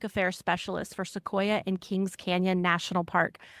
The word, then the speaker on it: Sequoia: You'll correct me on that if I'm wrong on that pronunciation. Visitors. Yeah, it's Sequoia.